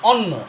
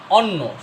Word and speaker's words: অন্য: পড়ি জফলা জফলা কি অন্য এটা কি অন্য সর নয় জফলা অন্য এ প নয় জফলা পণ্য কি হচ্ছে যে বর্ণের সাথে জফলা আছে সেই বর্ণটা দুইবার উচ্চারণ হচ্ছে অন্য সর জফলা অন